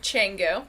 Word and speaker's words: Canggu: So It's spelled like Kangoo. Yeah. Yeah, it is. But we have an expert here, Canggu. Okay.